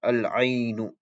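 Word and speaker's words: العين: That when you add alif lam, there will be a sakin on the lam. So you pronounce it as al-ainu, al-ainu. As a side note, the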